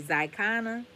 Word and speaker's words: Xicana: So, for the purpose of this piece, I want to be clear that I am writing as a, I'm going to say Zicana. Zicana is spelled Xicana.